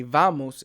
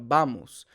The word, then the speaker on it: vamos: use the V sound so they'll say vamos instead of bamos so the the dictionary says you should say vamos vamos with the B sound